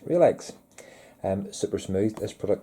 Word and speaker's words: Relx: smooth introducing new relax some people call it ralph's but it says in documentation it's pronounced real eggs um super smooth this